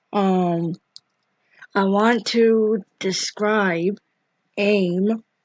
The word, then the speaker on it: A.I.M.: and don't know who aim are advanced idea mechanics which is abbreviated to a capital a capital i capital m pronounced as aim is a sort of